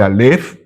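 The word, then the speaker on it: אלף: No se dice a, se dice alf, pero eh todos empiezan por la primera letra del alfabeto, pero es en realidad esto.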